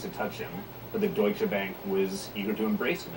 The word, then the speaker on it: Deutsche Bank: I don't think I could have pronounced Deutsche Bank, and I'm probably still mispronouncing it now. You're doing it right.